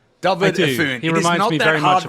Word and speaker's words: Efune: Someone said to me, just think of a dove. David Efune.